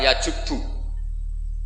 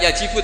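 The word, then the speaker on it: يجبّ: Itu bacanya bukan yajibu tapi apa? Yajubu ayaktau.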